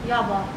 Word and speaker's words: Yava: So how you pronounce this? Yava. Yava.